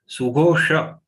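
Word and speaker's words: सुघोष: Sughosha, Shatkon, this Sh has to be pronounced by taking the tongue inside.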